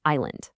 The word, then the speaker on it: island: It's so easy to look at it and just say island, right? But that S is a total decoy. It has no business being there when you speak. It's completely silent. The correct way to say it is simply island.